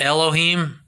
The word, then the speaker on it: Elohim: of giants like the elohim you say how do you say god in hebrew elohim but l was the